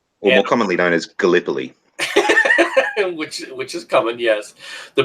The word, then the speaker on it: Gallipoli: you want to say it like a retard, Gillipili.